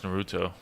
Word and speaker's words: Naruto: I need to watch Naruto.